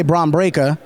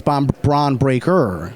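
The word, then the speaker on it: Bron Breakker: His name gives me challenges because of my accent. So I say Bron Brea, but it's Bon Bron Breaker.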